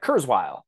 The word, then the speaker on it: Kurzweil: name earlier um uh Kurzweil and I think that's how it's pronounced it's like k-u-r-z-w-e-i-l um so he was